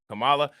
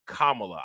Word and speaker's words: Kamala: is a right-wing thing calling her Camala I never actually knew that her name the pronunciation of it was Kamala I never I never